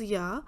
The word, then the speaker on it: ja: J sounds as Y, so Ja. We are saying, pronouncing it is Ja, but we are writing is JA because J is Y in German, so Ja.